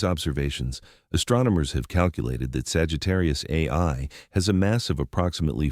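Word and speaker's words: Sagittarius A*: Our own Milky Way galaxy has a super massive black hole at its center designated Sagittarius A, pronounced Sagittarius A star.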